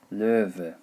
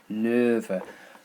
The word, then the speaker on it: Löwe: And lion in German is der Löwe. Löwe. Okay, the W pronounced as a V sound, Löwe.